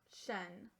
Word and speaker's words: nation: Shun. Shun. That is an irregular sight syllable.